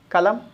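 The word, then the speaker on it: column: रो, और ये हो गया कॉलम। एन साइलेंट हो जाता है ना।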